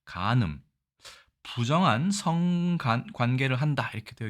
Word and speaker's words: 姦淫: 일단 도금은 간음이라고 읽습니다. 간음, 부정한 성관계를 한다 이렇게 되어 있죠.